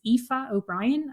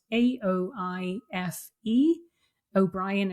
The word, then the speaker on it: Aoife O'Brien: Um so, my name is Aoife O'Brien, and it's spelled A O I F E. O'Brien is spelled the usual way, so Aoife O'Brien, and you'll find me on LinkedIn.